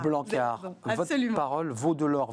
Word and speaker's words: Blanckaert: On ne prononce pas le T. Non. On est d'accord? Non, c'est un nom flamand et AERT ça se prononce A. Blanquart, votre parole vaut de l'or.